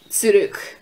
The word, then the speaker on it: zurück: And, there's the Z, which sounds like a TS, kind of sounds like a T, like it's not Z, it's S. So like, just imagine a TS instead, so like, zurück.